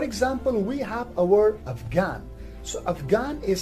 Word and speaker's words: Afghan: while in some other words for example in afghan here the edge is silent in ghost h is silent in spaghetti